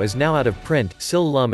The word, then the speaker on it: Sil Lum: Sil Lum is the Cantonese pronunciation of Shaolin.